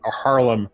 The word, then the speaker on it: Haarlem: this comes from which I don't know that I'm pronouncing this right but Harlem north-holland it's it's har LEM Yeah right but still